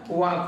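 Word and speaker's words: walk: है य एल के हम इसमें से एल को साइलेंट कर लेंगे और फिर इसको डायरेक्ट हम पढ़ेंगे वाक वाक मीस होता है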